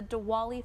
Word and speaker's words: Diwali: it these are the Festival of Lights the dwali Festival of Lights oh perfectly pronounced thank you diali festivals of Lights uh